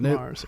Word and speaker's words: Marz: then Mars okay it's not Marts or anything it's just Mars okay cool all right